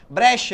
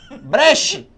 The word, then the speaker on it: Brecht: E aí é muito engraçado que tem um deputado que fala assim, Brecha, ele, Brecha. Brecht!